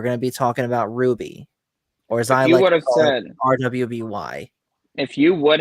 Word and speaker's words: RWBY: Shoot Me we're going to be talking about Ruby or RWBY if you would have said that